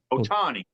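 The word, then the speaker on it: Ohtani: or yeah God damn it I said his name wrong again sh Shi sh so we'll just go with that Otani Otani Otani and I still mess it up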